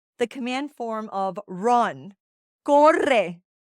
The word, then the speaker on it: corre: Corre. Double R's, roll your R's.